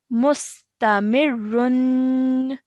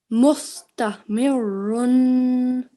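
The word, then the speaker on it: مستمر: So in continuation, this would be read mustamirun. Mustamirun. Excellent. Well done. Now, if you want to pause, what happens is that this dhammatain changes into a sukoon. Okay, so our pronunciation will be mustamir.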